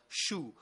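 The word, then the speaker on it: Chou: spell it out uh in uh the French version it is written c h o u CH like cabbage in French no I did not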